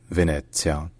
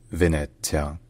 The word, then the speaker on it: Venezia: This name is the Italian name of Venice, a city known for its unique cityscape built on canals.